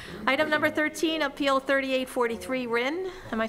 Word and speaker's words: Rin: Item number 13, Appeal 3843 Rin. Am I saying it right? Yep, Rin.